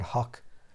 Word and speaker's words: Hough: H-O-U-G-H. Is that pronounced Hock? Hock as in lock, or how as in bow, or haw like ought, or huff like rough, or hoff like cough, or who like through, or ho like although.